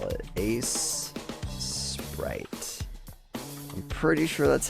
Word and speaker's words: Aseprite: It's basically Sprite with an A in front of it. Ace Sprite.